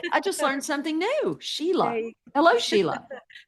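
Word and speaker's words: Síle: It's Sheila. Oh, you mean Si L is pronounced Sheila in Ireland? Yes. Oh, boy. Is that cool? Okay. I just learned something new. Sheila.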